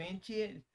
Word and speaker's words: Etienne: Trevor Etienne, Trevor, is Trevor how do you say his last name?